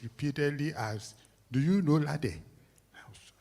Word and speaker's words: Lade: Please note that his Lade has an accent aigu on the E. So if you don't pronounce this properly, you get into trouble.